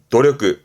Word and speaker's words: 努力: 일한다는 노력한다는 힘쓸 자입니다 이게 노력입니다 이게 노력이요 발음은 도력 조심하세요 항상이 발음은 도니다 도력 도력 보통 많이